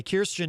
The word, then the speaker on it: Kirstjen: her first name uh correctly the other day kirstjen nielsen rather kirsten gillibrand of course is a senator running for president uh christian christian or kirstjen jill uh i almost did it again kirstjen nielsen uh is out of course at uh